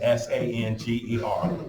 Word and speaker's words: Sanger: Her name is spelled just like danger, but with an S. Okay, Sanger.